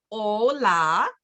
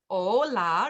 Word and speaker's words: hola: we have an example hola hola remember the H is silent Spanish e bien benidos